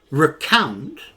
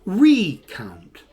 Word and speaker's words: recount: Well, the first question with this one is is it recount or recount? Two different pronunciations for the same uh verb because this is a verb.